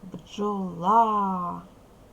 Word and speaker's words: бджола: ось ми з вами ставимо наголос бджола наголошений другий склад бджола про яку рослину